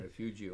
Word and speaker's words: Refugio: pronounces right correctly, Refugio, is that he is a Vietnam veteran back in the day, as I am too.